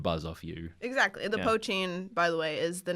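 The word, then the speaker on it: poitín: I believe that's how you pronounce it because it's spelled like it's spelled POI with a little accent mark TIN, and it almost looks like potion, but it's pronounced poachine, I think. It's a potion. Yeah, But I believe it's pronounced poachine in the movie.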